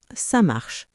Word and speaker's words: ça marche: Les Français disent souvent « ça marche » très rapidement, presque comme un seul mot.